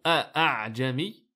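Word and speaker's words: أَأَعْجَمِيّ: Donc vu la difficulté de prononciation a'jami, c'est quelque chose quand même d'assez lourd à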